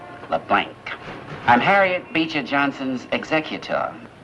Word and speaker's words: LeBlanc: That's a capital L, small e, capital B, small L, A-N, and a hard C. LeBlanc.